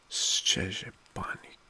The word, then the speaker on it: Szczepanik: I tried to pronounce his name. It's Jan Szczepanik in 1901. Szczepanik.